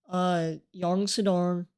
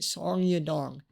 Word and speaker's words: Song Yadong: But Piotr Jan's still beating Yang Sedong. Please, please tell me I said that right and I'm not racist. Yeah, I was about to say Song Yadong. I said it wrong.